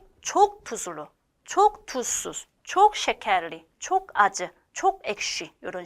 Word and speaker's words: şekerli: 여기 원어에 여기 꼬리가 빠졌네요. şekerli 라고 읽어요.